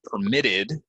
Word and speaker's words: permit: day right permit um but if I'm using it as a verb I would say I'm permitted stress goes here um to use the park I have a permit so permit permit permit permit if it's a